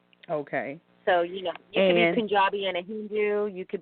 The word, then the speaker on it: Punjabi: Now, help me pronounce this. We said you were East Indian, but more specifically, you are Punjabi. Punjabi. Say it one more time. I'm Punjabi, so like the state in India that my